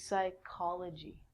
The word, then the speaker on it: psychology: of the mind and actually we say this like a k so this is psychology with the silent p the next one is